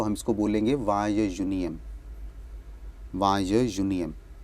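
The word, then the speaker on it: vingt et unième: वाय union, वाय union, क्योंकि यू एन ई के बाद उसको हम यून बोल रहे हैं, उसके बाद हमारा ई एम आ रहा है, तो वो यूनियम बन जाता है प्रोनाउंसिएशन में, तो इट इज़ वाय यूनियम.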